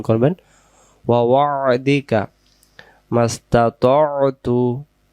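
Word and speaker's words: استطعت: ওয়া ওয়া'দিকা মাস্তাতু, মাস্তা, এটা বলবো ততু। বাংলা দিয়ে অনেক জায়গায় লেখা আছে মাস্তাতাতু, তখন এই তো অক্ষরটা ভুল হয়ে যাবে।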